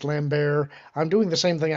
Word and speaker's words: Lambert: Yeah and okay 8181, I know it's pronounced Lambert.